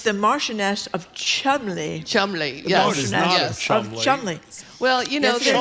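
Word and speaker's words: Cholmondeley: Chumley. Chumley. Chumley. Well, you know Molio. That's not how you pronounce it.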